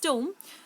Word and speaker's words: tomb: टूम का मीन्स होता है TOMB, इसका एग्जैक्ट प्रोनाउंसिएशन इज टूम।